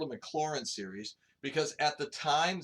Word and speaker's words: Maclaurin: his nameless smile although I did a Maclaurin series you know you say it like that so let's everybody say it together I did a Maclaurin series we do the